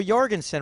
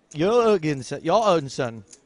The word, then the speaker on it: Jorgensen: Another reporter from Denmark told me that we've been saying Theo Jorgensen wrong. Says it's Theo Jorgensen. But we've commentated with Theo Jorgensen. We've seen him interviewed on TV, and he calls himself Theo Jorgensen.